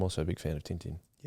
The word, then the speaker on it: Tintin: a big fan of Tintin. Yes. Well, Tantan, apparently in French it's Tantan.